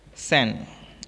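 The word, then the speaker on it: Sanne: My friend सैन, अब सैन या सान कुछ भी इसको प्रोनाउंस कर सकते हैं।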